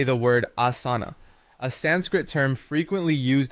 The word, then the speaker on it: asana: First, take note of the initial sound ah, which is similar to the a in father.